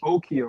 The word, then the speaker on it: Okeus: One of their gods' name was Okia, right? And it's spelled Okeus, Okeus.